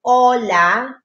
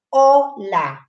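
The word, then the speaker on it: hola: Kasi, di ba, yung ola, hindi mo naman pinapronounce ang ache. Sinasabi mo lang, ola.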